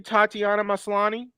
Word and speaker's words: Tatiana Maslany: thing uh how do you say her name tatiana maslany yes am i saying that am i'm sorry